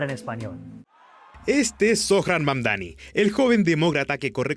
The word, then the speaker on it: Mamdani: Fíjense, nadie sabe pronunciar mi apellido, es Mamdani, pero a cada rato me dicen Mumdari, Mumnari, y esto es algo que muchos inmigrantes tenemos en común.